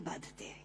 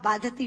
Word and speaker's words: बाधते: मुंह से बोला हुआ बाधती शब्द कष्ट दे रहा है, क्योंकि बाधते शब्द का अशुद्ध उच्चारण आपने किया है। ये शब्द बाधते होना चाहिए।